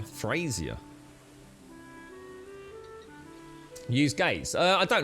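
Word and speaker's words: Frasier: Frazier. Not Fraser. Frazier.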